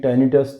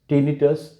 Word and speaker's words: tinnitus: इन्हें टाइनिटस था, टाइनिटस, टिनिटस, कोई सा भी आप प्रोनाउंसिएशन यूज़ कर सकते हैं।